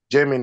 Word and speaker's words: Gemini: pronunciation who who will pronounce that for us pronounce ger Gemini Gemini Gemini okay so Gemini okay so the